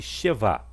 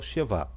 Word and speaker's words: shevá: aqui que é o shevá. O shevá, ele muitas vezes é pronunciado, né, e outras vezes não é pronunciado. Ele tem, quando ele é pronunciado, ele tem o som de E.